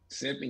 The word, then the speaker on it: simpin: Simpin, you said it right.